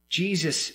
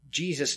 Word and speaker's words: Jesus: When we say the word Jesus, for example, we miss something. The original word in Aramaic, Jesus' name, is pronounced Yeshua, like Joshua. And Yeshua, that name, means God saves. Jesus' very name means God saves.